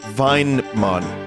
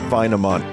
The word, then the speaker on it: Vinemon: It's pronounced Vinemon, not Vinamon.